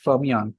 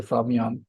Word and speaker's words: Fermyon: Fermyon. Yep. Is that right? Is that how you pronounce it?